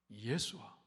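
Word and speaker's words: ישוע: 히브리말로 여호수아, 예수아 이렇게 발음하죠.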